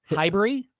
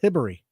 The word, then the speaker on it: Hibbery: Hibery? It's Hibbery.